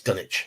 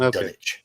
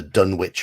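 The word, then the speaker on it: Dunwich: sort of cosmic importance oh the W silent yes dunich it's pronounced dunich all right so it's it's never it's never been the dun witch horror it's the dunit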